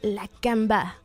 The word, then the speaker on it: La Camba: Nous on dit la camba, mais c'est vrai qu'on met un petit accent. Les mots qui finissent avec un accent à la fin, c'est prononcé avec un accent tonique vers la fin. C'est la camba.